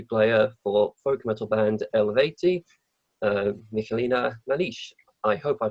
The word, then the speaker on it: Eluveitie: It's Yeah, it's Eluveitie. You don't pronounce Eluveitie. the U; it's just Uh, Eluveitie.